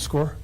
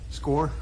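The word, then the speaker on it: Skaar: And I believe you pronounce his name as like Scar, but is it Sergeant S-K-A-A-R? That's correct. How did you pronounce that? Sergeant Score? Score?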